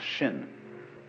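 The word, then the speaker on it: 心: in chinese mind is this word pronounced shin and shin is here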